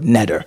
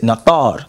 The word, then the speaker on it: Neter: So as I said earlier, I said we as Nuwaubians would not pronounce the word netter. We would pronounce it nathar. And we would pronounce it nathar based on our translation.